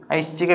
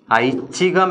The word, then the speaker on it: ഐച്ഛികം: ശരിയായ കാര്യമാണോ ശരിയായ പ്രയോഗമാണോ അല്ല ഐശ്ചികം എന്ന് പറയുന്നതിന് പകരം എന്താ കൊടുക്കേണ്ടത് ഐച്ഛികം എന്നാണ് കൊടുക്കേണ്ടത് പക്ഷേ പ്രയോഗിക്കുന്നത് ഏതാണ് ഐശ്ചികം എന്നാണ് പ്രയോഗം സംഭവിക്കുക അപ്പൊ നോക്കുക ഈ പ്രയോഗവും ഉച്ചാരണ സൗകര്യത്തിന് വേണ്ടിയിട്ടാണ് അതായത് ഛ ചക്ഷരത്തെ പ്രയോഗിക്കാനുള്ള ബുദ്ധിമുട്ട് കാരണം അതിനുപകരം ശയും ചയും കൂടെ കൂടിച്ചേർന്ന പ്രയോഗമാണ് സാധാരണ നടത്തുക അപ്പൊ എത്ര എണ്ണത്തെ നമ്മൾ